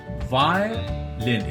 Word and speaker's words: violin: Violin. इसमें 3 syllables हैं, 3 sounds हैं. Violin, violin.